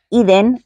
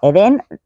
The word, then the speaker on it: Eden: día de este verano el modelo de la portada iden porque está en europeo Eden sería en español y con acento en la segunda e Así es que iden